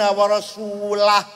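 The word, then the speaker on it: وَرَسُولُهُ: Orang baca Quran salah. Wa annallaha bari'um minal musyrikin wa rasulih. Allah tidak melindungi orang musyrik dan tidak melindungi Rasulullah. Salah. Yang benar bacanya wa annallaha bari'um minal musyrikin wa rasulah. Allah tidak melindungi orang musyrik dan Rasulullah pun tidak melindungi orang musyrik. Kalau baca wa rasulah.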